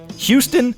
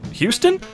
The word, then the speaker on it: Houston: Met her 2 sweet dogs this morning named Houston and Houston? One's pronounced like Houston, Texas, and the other is pronounced like Houston Street.